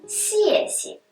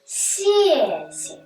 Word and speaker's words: 谢谢: Например, «спасибо» по-китайски будет «сеси». В этом слове оба слога одинаковые, но при этом первый слог произносится в 4-м тоне, а второй в нулевом.